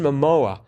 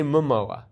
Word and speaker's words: Momoa: I know it's Jason Momoa, the name that cannot be spelled just by saying it out loud. Momoa. Momo. See, I say Momoa.